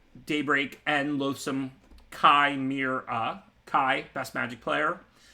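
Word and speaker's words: Chimera: As far as the commons, again, I mean, I like Daybreak and Loathsome Kai Mir. Kai, best Magic player. Mir rhymes with bear, and 3 syllables.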